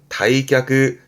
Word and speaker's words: 退却: 발음은 다이크 다이크 퇴각 후퇴하는 거죠.